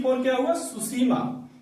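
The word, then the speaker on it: Tsushima: सुसीमा। सुसीमा, आपको सुसीमा सुनने में लग रहा हो कि एस से होता होगा, लेकिन उसमें टी से होता है सुसीमा। इसमें टी साइलेंट रहता है।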